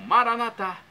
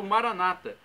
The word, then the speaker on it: Maranata: E agora do aramaico para o português, eu clamo Maranatá, como dizemos nós católicos, ou Maranata, como dizem nossos irmãos separados, os evangélicos ou protestantes.